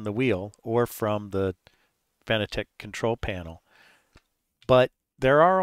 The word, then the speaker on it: Fanatec: establish up front is I am going to pronounce this fanatec even though I know that the kind of official way from the company is fanatic and that's fine it's just that a lot of us say fan attack because the way it's spelled and um also I